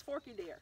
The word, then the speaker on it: Forked Deer: deer what is it should it looks like it should be forked doesn't it well it's spelt that way yeah but you know us southerners we either take syllables away or put them you know we draw our words out but sometimes we don't right so to me it's forky deer right it's fork and deer to me too and we're actually